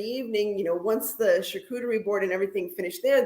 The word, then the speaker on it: charcuterie: it was a perfect time for what is charcuterie I love this wait a second what the f is am I saying it right charcuterie yeah charcuterie charcuterie is when you have a